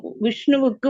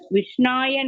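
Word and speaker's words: विष्णवे: வணக்கம் விஷ்ணுவுக்கு வணக்கம் செலுத்தும் நேரத்தில் ஒரு முட்டாள் விஷ்ணாய நமக, இது இலக்கணத்தின் தவறான பயன்பாடு. மற்றும் ஒரு கற்றறிந்த நபர் விஷ்ணவே நமக, இதுதான் சரியானது. முதல்ல சொன்னது விஷ்ணாய, இது விஷ்ணவே நமக, இதுதான் சரியானது என்று உச்சரிக்கிறார்.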